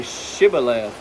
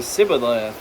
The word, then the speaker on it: Shibboleth: If he said no, then they would say to him, Then say Shibboleth. And he would say Sibboleth, for he could not pronounce it right.